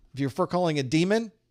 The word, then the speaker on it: daemon: You're pronouncing it demon. Okay, well, it's spelled daemon. And in fact, one alternative pronunciation of it is daemon. But in reality, that name, daemon, was originally pronounced demon. That's how we spelled demon back in the Old English. And that's why we call it demon, because it really is that.